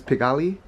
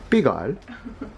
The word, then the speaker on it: Pigalle: I thought it was Pigalle, and then I tried to explain to that bakery owner, yeah, we're near Pigalle, and she's like, you mean Pigalle?